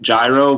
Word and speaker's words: gyro: I'm not a big fan of pronouncing it hero, but just say it gyro, but there's a good place in Worcester, Boomers, that has it.